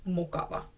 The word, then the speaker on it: mukava: If I would like to describe myself as nice, I can say mä oon mukava. Mä oon mukava.